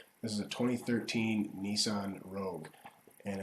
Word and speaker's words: Rogue: This is a 2013 Nissan Rogue. And if I hear anyone call it a Rouge or spell it Rouge, I'm going to lose it.